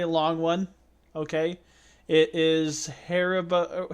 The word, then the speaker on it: Haribo: one's a pretty long one okay it is harabo how do you say how you how do you pronounce it back it's the harabo it's a Haribo one star Amazon revieww and it's a very